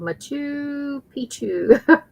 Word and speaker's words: Machu Picchu: Oh, Kelly's telling me how to pronounce it. It's called Machu Picchu.